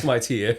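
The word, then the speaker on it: Khmer: A lot of people say Kamir. If you hang out enough Cambodian people, it's pronounced Kami.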